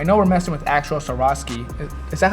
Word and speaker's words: Swarovski: so gabe i know we're messing with actual swarovski is that how you pronounce that that's right you said it perfect